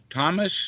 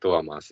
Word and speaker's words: Tuomas: Thomas, is that your name? Yes, hello. Yeah. It's in like strictly pronounced Tuomas in Finland, but it might be hard to pronounce, so I will accept any pronunciations.